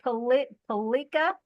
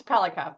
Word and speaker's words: Pelica: And so, and is it Palika? It's Pelica, but yeah. Pelica, I put the accent on the wrong syllable.